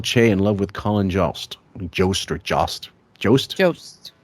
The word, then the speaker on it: Jost: Michael Che in love with Colin Jost.